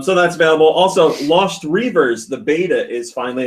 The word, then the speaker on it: Reavers: Also, Lost Reavers, the beta is finally It's available pronounced for here. Rivers.